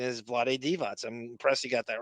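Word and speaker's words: Vlade Divac: people say you would naturally you would go Vlad DevO and most people did. There were like announcers doing that, but it the pronunciation is Vlad Devots.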